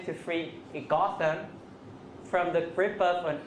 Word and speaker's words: Gotham: this okay so now H stresses here becomes sh on stretch syllable Gotham Gotham very important if you say go go nobody's going to understand you goam goam okay so this